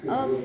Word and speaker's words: of: Many foreigners make this mistake Even though the word of, we pronounce of with the voice V.